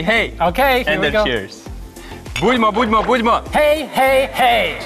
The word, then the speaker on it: Budmo: Budimo. Budimo, okay. All right, so you. I will say three times. Budimo, budimo, budimo. And the people will answer, hey, hey, hey. Okay, and then cheers. Budimo, budimo, budimo.